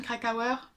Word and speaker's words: Krakauer: into the way into the wild de jon krakauer ça se prononce comme ça éditions 10/18 qui est donc